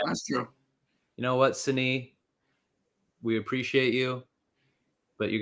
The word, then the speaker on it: Signe: Oh, she right here, pronounced Signe.